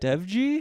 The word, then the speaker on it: Dewji: introducing our guest for the week, one of my best friends in comedy, Zahid Dewji. That's how you say it, right? Dewji? Yeah, you're Asian.